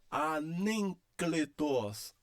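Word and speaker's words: ἀνέγκλητος: Sempre considerando, olha só, gama antes de capa. Este gama recebe o som de N. Então tá aqui, ó, o gama recebe o som de N e o capa permanece o som de K. Então eu leio como anencletos, anencletos, anencletos, tá?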